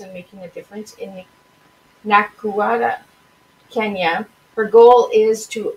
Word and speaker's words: Nakuru: So how do you pronounce the Nakuru? Nakuru, Kenya.